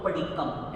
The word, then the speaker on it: पडिक्कम: अब यहाँ पर आधा क फिर म है तो पडिक्कम, इसकी प्रोनाउंसिएशन ये रहेगी। जैसे आप पेज नंबर निकालिए 41, यहाँ पे 15 कर्मा दान के नाम दिए हुए हैं। शब्द है इंगाल कम्मे। यहाँ ये आधा म और फिर पूरा म है तो इसलिए ये कम्मे ऐसे प्रोनाउंस करेंगे।